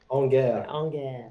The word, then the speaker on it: En guerre: En guerre.